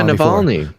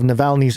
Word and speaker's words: Navalny: how you say it i said it yeah navalny oh yeah yeah yeah yeah samuel melanie's team